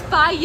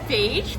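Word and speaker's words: Fage: every comment was like, you're saying it wrong. It's faye. And I was like, phage? Faye? You used to call it phage?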